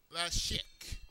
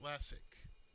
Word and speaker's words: Lassic: until we get there now strangely they pronounced it Lasik but it's lassic so technically lassic was